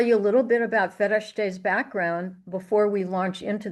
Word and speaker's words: Fereshteh: So as we begin that, we're going to have some time with Fereshteh. And note how I pronounce her name. I learned the actual Persian pronunciation this morning.